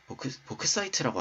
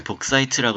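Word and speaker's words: bauxite: 벅사이트, 보크사이트라고 하나요? 네, 보크사이트라고 했었죠. 원래 보크사이트, 잠만, 나 이 벅사이트를 맨날 복사이트라고 읽으니까 보크사이트랑은 다른 건 줄 알았는데 이번에 말하다 보니까 알았네.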